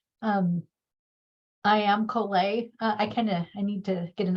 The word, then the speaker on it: Colet: So with that being said, I am KoolAid. I need to get an updated summer photo. That was in the dead of winter. But KoolAid rhymes with Olay.